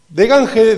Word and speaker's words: Degange: Mi nombre es de Gange, decía mi abuelo y mi papá. De Gange es como se pronuncia realmente, por lo cual yo digo de Gange, que es como decía mi papá.